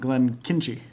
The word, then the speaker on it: Glenkinchie: Glenkinchie actually follows the Chimichanga protocol.